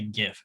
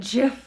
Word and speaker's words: GIF: um like because like the guy who invented the format says it's pronounced jiff but that doesn't matter